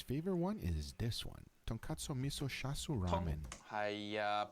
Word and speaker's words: tonkatsu: He just loves ramen, and his favorite one is this one, Tonkatsu Miso Shasu Ramen. Pronounced wrong again. It's tonkatsu, not tonkatsu.